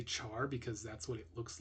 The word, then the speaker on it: char: lot of people say Char because that's what it looks like but it is actually an abbreviation for character so you might hear some people say care instead of uh Char